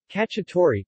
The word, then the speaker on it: Cacciatore: cacciatore pronounced category means hunter in Italian in cuisine ala